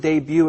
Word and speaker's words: debut: There's that word debut again. The T is silent, and debut means?